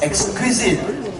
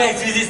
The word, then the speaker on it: EGZQUISITE: which I think is pronounced as exquisite.